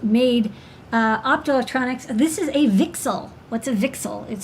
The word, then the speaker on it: VCSEL: We call it a VCSEL. That's apparently how it's pronounced.